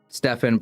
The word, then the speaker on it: Stefan: My actual name is Stefan, pronounced like your friend Stefan.